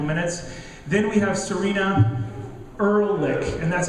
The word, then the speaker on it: Ehrlich: Then we have Serena Ehrlich, and that's how we pronounce her last name. It's Ehrlich.